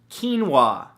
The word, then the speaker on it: quinoa: it's a beautiful thing number two quinoa spelled ke en wuah no that's not how it's spelt at all but it should right come on English now the great thing